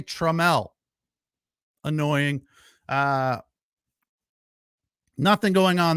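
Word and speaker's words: Trammell: inning and then treml why isn't it traml it's spelled just like traml Allan traml but they say treml annoying uh nothing going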